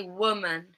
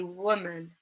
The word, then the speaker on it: woman: In an unstressed syllable, so always unstressed syllable, vowel sound. It can also appear in the middle. So we can say woman, woman, instead of woman, woman, we might say woman, woman.